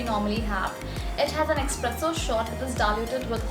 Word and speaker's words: espresso: next coffee is espresso well that is not the correct pronunciation of this particular coffee v presents it espresso the correct pronunciation of this coffee is espresso not espresso as we heard a lot of times now what this coffee